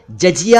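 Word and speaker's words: जिज़िया: इसका सही उच्चारण है जिजिया, यानी पहले वाले ज के नीचे नुक्ता नहीं है, दूसरे वाले ज के नीचे नुक्ता है।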